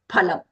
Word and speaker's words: phalam: But we are not going to say fa for that actual word phalam. Okay, we have to use phalam.